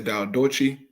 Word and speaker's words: Diadochi: Some people say Diadochi, but I think it's pronounced Diadochi, but a tomato.